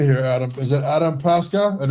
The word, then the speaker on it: Paaske: So actually So you see O. Yes. So it gets when when you put two A's together, it gets the sound of the last letter in the Danish alphabet which is O and it's that sound.